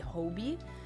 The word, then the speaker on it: Hobie: Sorry, I've been saying it Hobby my whole life, and then I found out in Across the Spider-Verse I was saying it wrong and it's supposed to be Hobie.